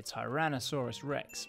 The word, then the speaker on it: Tyrannosaurus rex: of the tyrant lizards pronounced tai ran no saw rus rex t-rex was alive in